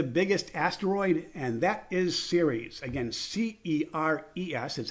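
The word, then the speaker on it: Ceres: what is the biggest asteroid and that is series again cer yes that's how it's spelled and that is 580 miles across so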